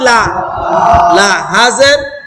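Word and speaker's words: لِلّٰهِ: খারা জবর ল নাকি লা লা লা হাজের লিল্লাহি লিল্লাহি আরেকবার লিল্লাহি তাসনিদ মানে কি বলছিলাম শক্ত করা জাবল উচ্চারণ মানে একটু শক্ত করে উচ্চারণ করা লিল্লাহি লিল্লাহি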